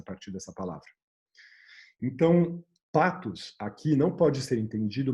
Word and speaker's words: pathos: Que com o TH se falaria pathos, que aí até a gente ouvindo essa palavra pathos desse jeito, falando assim, a gente perdeu essa pronúncia do TH no meio da língua, né? Em inglês não, em outras línguas não, mas aqui a gente perdeu.